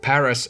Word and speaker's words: paras: Then we got Paras and Parasect. Fun fact about Paras, the word Paras is a word in Finnish, it's called paras. That's how you pronounce it, and it means the best.